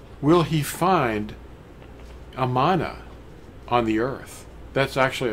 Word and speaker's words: Amanah: Yeah, Amanah. They call it Enuma a lot of times. It's not. It's spelled with an A, Aleph.